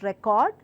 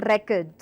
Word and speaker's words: record: could be something like words such as record and record record record now one word has different meaning and different pronunciation different and used in different context altogether so when I say record I am stressing or the first part of the word it's a noun and I clearly mean to record the songs to record the speech but when I say record I clearly mean it's a verb and clearly